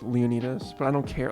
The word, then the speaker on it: Leonidas: how do you say is it Leonidas right Leah nice is like the English pronunciation most people say it but the Greek way that I've always said it is Leonidas I don't care like